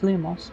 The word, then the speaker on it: Lumos: You know, I'm pretty sure it's pronounced Lumos, but especially considering how they're meant to care about the uh correct pronunciation of everything.